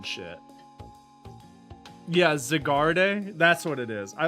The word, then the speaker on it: Zygarde: It's French, so the E in Zygarde is silent.